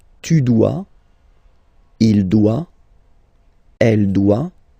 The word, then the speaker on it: doit: Il, elle, doit. Final T not pronounced. Il doit, elle doit.